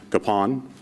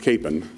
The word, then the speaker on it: Kapaun: last name is pronounced Capone if you talk to people in Kansas our last name is pronounced Capen and you're probably wondering